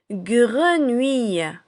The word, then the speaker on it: grenouille: Vous avez ici le mot grenouille. Grenouille. Il comporte 300. Le gre de grenier, ou de vous et aille à la fin de taille. Grenouille.